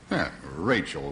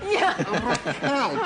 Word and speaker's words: Raquel: my bow and say Rachel Welch I say Rael Welch Rael please she doesn't know how